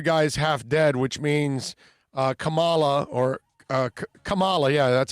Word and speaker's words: Kamala: Yeah, Tremolio, by the way, goes, but the other guy's half dead, which means Kamala, yeah, that's how it's pronounced, would be president.